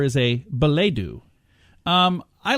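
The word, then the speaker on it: billet-doux: Or billet-doo. There's a couple ways if you want to pronounce it the French way. I'm going to say billet-doo. Billet-doo. That's the way I'm going to say it. It's billet-dous.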